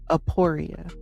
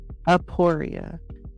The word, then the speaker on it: Aporia: And today's word for that middle is Aporia. Aporia.